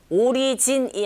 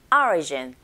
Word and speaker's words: origin: 나머지가 모두 다 내용어인데, origin, 오리진이 아니고 origin. 자, 앞에 철자 O의 강세가 딱 갔어요. 이런 경우에 O 소리보다는 I에 가깝게 발음이 들린다는 거 이제는 아시죠?